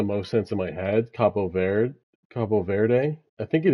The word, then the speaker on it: Cabo Verde: Because yeah, my I learned Spanish, so I'm going to pronounce it Verde Ve- like the second part, Verde, but it's a Portuguese-speaking country, which I've learned. So, I think it's Verde is the right correct way to say it.